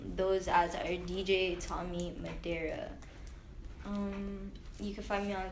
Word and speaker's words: Madera: Tommy Madera.